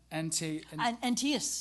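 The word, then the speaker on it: Antaeus: And and antias that's the one.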